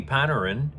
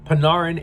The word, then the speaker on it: Panarin: Moreover, even though they recently traded for another winger, Arti Paneran, it was the with the idea that you would pair Pinarin, my bad for mispronouncing it the first time, Panarin and Fiala on one